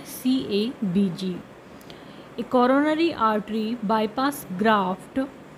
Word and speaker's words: CABG: जिसको हम बोलते हैं CABG। एक coronary artery bypass graft CABG, often called CABG, इसको शॉर्ट में CABG भी कहते हैं, एंड प्रोनाउंस्ड कैवेस, और इसको कैवेस भी कहा जाता है, इज कॉमनली